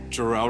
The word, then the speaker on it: Jarell: just ready to go uh what's your name jel it Rhymes right ready ready today right and what